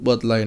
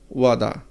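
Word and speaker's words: वादा: যেমন বাদা হিন্দিতে উচ্চারণ হবে ওয়াদা।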